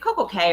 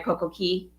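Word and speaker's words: CocoCay: Is it Coco Cay or Coco Key? So both pronunciations are acceptable. Coco Key is the That's very important. But the Bohemians say, I mean, honestly, both are acceptable, but Key is more correct.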